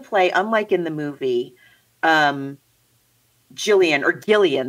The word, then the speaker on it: Gillian: And so in the play, unlike in the movie, Gillian, they say, right? It's like a hard G.